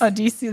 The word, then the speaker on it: Odysseus: Odysseus, that's how you say it.